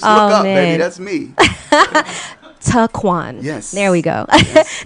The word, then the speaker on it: Toquon: I like the way she say my name, Toquan. Toquan. That's cool. It's actually Taquan, but I'll let you get away with it because it sounds sexy.